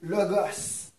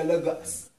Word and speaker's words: logos: Là, on parle du logos. Les gens vont dire, non, on dit le logo. Mais en grec, c'est le logos. On le prononce comme ça.